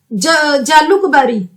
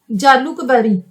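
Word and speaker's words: Jalukbari: इनकी जो कॉन्स्टिट्यूएंसी है, कॉन्स्टिट्यूएंसी जहां से इन्होंने इलेक्शन लड़ी थी, तो इनकी कॉन्स्टिट्यूएंसी का क्या नाम है, जालुकबारी, जालुकबारी, JALUK, जालुकबारी। अगर किसी और ढंग से इसको प्रोनाउंस किया जाता है वो होगा, मुझे जो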